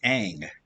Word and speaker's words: Aang: m night shyamalan okay it's not ong it's aang it does a and